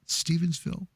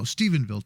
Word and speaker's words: Stephenville: bill Texas about that I say it right Stevensville no Stephenville Texas hi Valerie good to